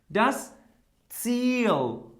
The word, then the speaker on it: Ziel: At first, we can say like E, okay? E, a long E. For example, das Ziel. Huh? Das Ziel. Repeat after me. Das Ziel. Das Ziel.